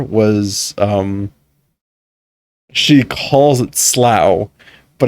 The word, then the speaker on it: Slough: it's spelled s o s l o u GH and so I was like it's Slough right because I was thinking like tough so it's it's it's Slough but apparently it's called slow tell's names after underwear